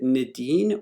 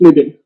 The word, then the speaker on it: Nidhin: He's having some audio issues, but it bugs me to no end to mispronounce someone's name. Can you guys help me? Is it Nadine or Nidin?